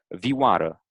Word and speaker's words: vioară: Versus V in Romanian, for example, the word for violin in Romanian is vioară, right? So v, to Yeah. me, it sounds like more clear in a way.